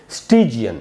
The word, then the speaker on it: stygian: स्टिजियन कैसे पढ़ेंगे दोस्तों? पहले स्पेलिंग बता दूं आपको, STYGIAN, और इसमें टी में जो ई है, जो बड़ी ई है, दीर्घ ईकार जिसको बोलते हैं हिंदी में, हिंदी व्याकरण में, स्टिजियन ऐसे पढ़ेंगे, स्टिजियन, स्टिजियन।